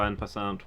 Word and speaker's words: en passant: I can never remember how en passant works.